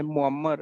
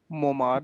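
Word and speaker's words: Muammar: सर ये name जो आप प्रोनाउंस करते हैं ये मुअम्मर है, मोमार नहीं। मुअम्मर। मुअम्मर।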